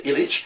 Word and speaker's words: Ilic: looking for meit's work and it's pronounced I pronounced milita illich spelled i l i if you're asking the